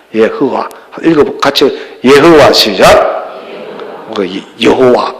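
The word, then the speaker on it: יהוה: 이 네 스펠링 알파벳이 여호와를 이루어요. 예흐와랍니다. 예흐와.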